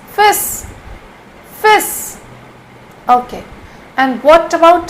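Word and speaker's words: fils: f i LS but L is silent here we cannot pronounce l here it's fish fish okay and what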